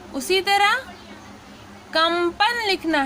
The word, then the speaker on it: कंपन: उसी तरह कंपन लिखना है तो हमने यहाँ पे क्या लिखा, कंपन, ठीक है। तो ये यहाँ पे म का साउंड है और यहाँ पे न का साउंड है, कंगन, ठीक है।